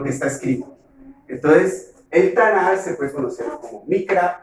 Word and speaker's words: Tanaj: Se pronuncia Tanaj, porque esta letra Kav, cuando está al final de una palabra se suaviza, y no suena Tanaj, sino Tanaj.